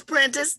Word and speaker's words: Prentiss: the connection is it is how do you pronounce it it's princess that's right apprentice what is the connection there